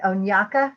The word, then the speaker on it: Onyaka: at ct next okay onyaka is that how you say it yes oh that's a great